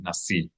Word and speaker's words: Nasi: Nevertheless, the accent will be on the I, Nasi.